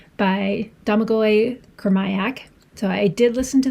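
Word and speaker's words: Domagoj Kurmaić: is Mother Mother of Learning Arc 3 by Domagoj Kurmaic. So, I did listen to the audiobook and that is how the audiobook narrator pronounced the name of the author, so Domagoj Kurmaic.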